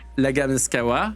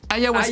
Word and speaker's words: ayahuasca: qui s'appelle, le nom, j'arrive jamais à le prononcer, l'agaskawa. Ah oui. Voilà. Non, mais je vois de quoi tu parles. Tu C'est l'as ayahuasca.